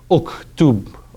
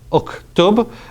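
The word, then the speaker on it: اُكْتُبْ: So what you're going to do is, to make up for the missing sound at the beginning, you're going to put an oo sound. Uktub, uktub, and this went to.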